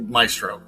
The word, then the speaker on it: Maestro: So let's break down is it Maestro? Am I saying it correctly? The Maestro solution? Yes. Yeah, okay. Absolutely. Maestro.